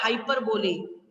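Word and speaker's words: hyperbole: अब पर्सोनिफिकेशन के बाद आता है हाइपरबोले. क्या आता है? क्या आता है? हाइपरबोले. बोलो मेरे साथ. हाइपरबोले. हाँ, यस. इसकी स्पेलिंग होती है HYPER. हाइपर बोले, BOLE, हाइपर बोले.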